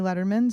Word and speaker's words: Lederman: you can't remember that it's like David Letterman but no teas One D so you can just